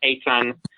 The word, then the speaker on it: Eitan: The original name is Eitan, pronounced like a ton of fun, or more closely, a ton of trouble, which I do get myself in quite often.